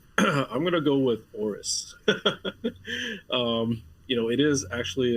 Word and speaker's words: AORUS: Help me with the pronunciation there, Kevin. Well, I'm going to go with Aorus.